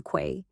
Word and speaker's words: quay: Let's walk by the quay. It's key, babe, like the key to correct pronunciation.